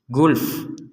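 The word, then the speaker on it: غلف: di sini ada Fa Jadi huruf Fa di sini walaupun tidak berharakat tidak dibaca harakatnya ya karena kita berhenti tetap memiliki hak untuk dibaca sekali lagi tetap memiliki hak untuk dibaca gulf gulf jadi ada huruf Fa yang tidak ada harakatnya jadi dibaca Fanya saja tanpa harakat gulf gulf gitu gulf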